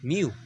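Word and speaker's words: μ: sample mean, denoted as the Greek letter µ (pronounced as myu).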